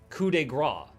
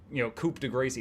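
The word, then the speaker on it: coup de grâce: And it would flash coup de grace, the spelled, Coupe de Gracie. It would spell it because the game did not have voice acting. So before I ever heard the word coup de grace, I had read it wrong 1,000 times.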